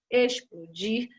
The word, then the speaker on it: explodir: X com som de S, exclamar, explodir. Apesar de você pronunciar ex como se fosse escrito com S, você vai escrever com X.